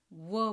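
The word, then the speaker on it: wh: वहाँ पे हम उसको व बोलेंगे, व। सो जो डब्ल्यू की साउंड है सिर्फ वो बोल रहे हैं, जो एच की साउंड है वो नहीं है, वो साइलेंट है।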